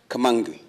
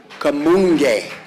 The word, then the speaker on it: Kamunge: And Kamangi. Kamunge. It's a hard G.